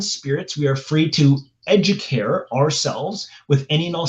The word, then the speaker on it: educare: So, educate e d u c a r e because it's Latin the e at the end has an a like the Italian language. So, instead of pronouncing it educate, it's educare.